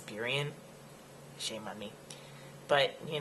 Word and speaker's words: Burien: I know I'm like always mispronouncing things like Burien, and it's Burien.